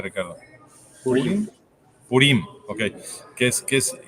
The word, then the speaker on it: Purim: sé si es purim o purim Cómo se pronuncia Ricardo purim Okay que es que es importante enfatizar en